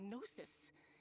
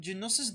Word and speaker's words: Gnosis: You call them Gnosis? I was calling them Genosis this entire time. My goodness. The G is silent.